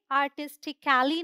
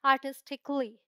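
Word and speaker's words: artistically: तो हम यहाँ ए करके नहीं बोलते, जैसे ये आर्टिस्टिकली नहीं है, ये है आर्टिस्टिकली, क्ली, जल्दी से, जैसे आधा का प्रोनाउंस कर रहे हो।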